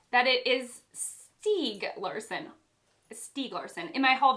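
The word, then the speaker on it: Stieg Larsson: in my haul video i didn't know how to say his name and i was like steg seg which was like the same pronunciation just said more hesitantly but i found out it's steve larsen okay harry okay okay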